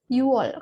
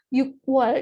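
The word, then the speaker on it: 유월: Sebenarnya kalau 6 itu kan bahasa Koreanya itu yuk. 6 itu bahasa Koreanya yuk. Nah, tapi kalau dalam mengucapkan bulan, diucapkannya itu Yuwol. Yuwol. Kenapa? Karena kalau bagi orang Korea sendiri itu lebih gampang kalau mengucapkannya itu Yuwol. Kan dibanding Yukwol itu kan susah ya. Jadi kalau orang Korea sendiri menyebutnya Yuwol. Yuwol.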